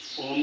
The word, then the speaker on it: ओम: ओ में तीन शब्द हैं। अ, ओ और म। अ का जो उच्चारण होता है वो पेट से शुरू होता है। अ आपका पेट अंदर जाना चाहिए। वहां से ओ का जो उच्चारण होता है वो आप के गले का उपयोग होगा। इसमें ओम और म का उच्चारण है वो होठों से होता है।